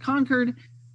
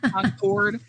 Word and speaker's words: Concord: and um you're um people up north would call it conquered we don't do that here in the South right we have this enunciate every syllable just to make sure we say it correctly Concord um not concered um but we stopped